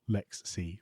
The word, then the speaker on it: LXC: Stefan works for Canonical and works on LXC, LXD, or LexC, LexD, depending on who you speak to, how you pronounce that.